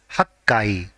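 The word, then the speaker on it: 八階: for eighth floor and whenever the floor number is ending with eight the part corresponding to eight has to be pronounced as hakkai for example 38th floor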